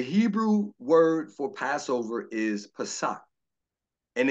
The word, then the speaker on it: Pesach: The Hebrew word for Passover is Pesach, and it's spelled a couple of ways, P-A-S-O-A-C-H or P-A-S-A-C-H, Pesach.